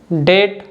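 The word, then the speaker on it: debt: Rule number 2 के examples हैं डाउट, डेट, subtle. तो इन तीनों वर्ड्स में जो बी है या टी के पहले आ रहा है, ठीक है, इसलिए बी साइलेंट है।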